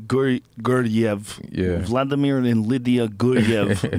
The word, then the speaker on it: Guryev: Guryev.